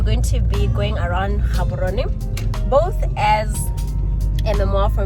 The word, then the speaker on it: Gaborone: So it's Ga Gaborone and Dumelang.